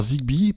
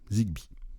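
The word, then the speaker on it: Zigbee: Alors Zigbi pour si ça vous intéresse, ça s'écrit Z I G B2. Zigbi.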